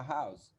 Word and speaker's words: house: A house, uma casa. Esse R aqui, esse H aqui, perdão, ele tem som de R. Por isso eu chamo de H sonoro, tá? A pronúncia dessa palavra aqui é house.